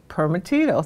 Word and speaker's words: Primitivo: Did I pronounce that right? Primitivo, thank you.